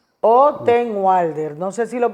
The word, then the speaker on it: Ottenwalder: Sí, yo tengo un deportista El santiaguense doctor con ese Manuel, apellido que pronuncia. Ottenbalder es Me daba realmente complicaciones.